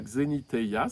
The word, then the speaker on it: xeniteia: Donc, souvenez-vous de la xénitea, ça s'écrit comme ça se prononce, qui est un mot grec qui veut dire se rendre étranger.